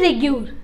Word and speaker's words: regur: उससे क्या कहते हैं, उससे हम कहते हैं रेगर बोले फिर रेग्यूर. ठीक है, इस स्पेलिंग बस याद कर लीजिएगा, REGUR, रेग्यूर सॉइल.